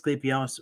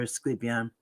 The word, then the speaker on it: Asclepius: and well he's got you can pronounce it two different ways clippios or sleepium and so the Greek